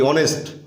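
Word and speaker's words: honest: এন ই এস টি অনেস্ট আমরা এইচ এর উচ্চারণটা করি না এটা উজ্জ্ব থাকে তাহলে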